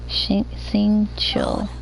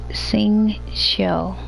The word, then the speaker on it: Xingqiu: Xingqiu. So X's are pronounced like S and Q's are pronounced like C.